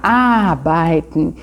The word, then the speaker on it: arbeiten: Nós temos também o verbo trabalhar, arbeiten. Ich möchte in Deutschland arbeiten. Normalmente, a primeira sílaba é a sílaba tônica em alemão. Arbeiten.